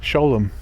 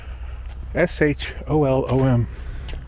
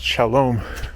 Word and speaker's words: Sholom: thought about this one sholom park is what it's called sh o l o m a lot of people pronounce it Shalom but I know it's sholom it's named after a